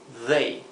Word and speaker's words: they: made y they made fijaos bien la pronunciación de they el ellos they es aquí lo he escrito con dh para para imitar la th inglesa que sería they parecido una d Pero vibrante entonces como siempre vean